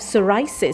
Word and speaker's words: psoriasis: Next we have psoriis spelled as p s o r i a s i s and we pronounce as s o o r i a